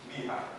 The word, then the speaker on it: BHAG: BHAG, which is also written BHAG, but it's pronounced BHAG, and that stands for Big, Hairy, Ambitious, Audacious.